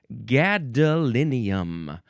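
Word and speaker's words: gadolinium: The first word is gadalinium.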